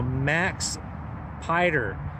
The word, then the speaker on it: Maxpider: price is very very reasonable and i'm gonna pronounce the name it's uh you know max pider m-a-x p-i-d-e-r and then the 3-d is their